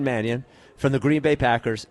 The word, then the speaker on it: Mannion: I keep calling him Shawn Marion. He isn't. He's Shawn Manion from the Green Bay Packers.